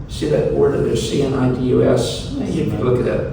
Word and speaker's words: Cnidus: See that word that there's C-N-I-D-U-S? If you look at that, they pronounce it different ways, but Cnidus is the way apparently the Greeks do it.